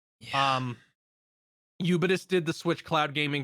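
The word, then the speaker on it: Ubitus: platforms boosterloid and you you bitus I guess it is supposed to be like ubiquitous with it's a syllable taken out so I'm just gonna say yubidus um eubidus did the switch cloud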